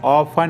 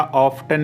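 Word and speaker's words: often: अक्सर वहां जाता हूं आई ऑफ गो देयर ऑफ या ऑफ्टन भी बोलते खुद पर ध्यान दो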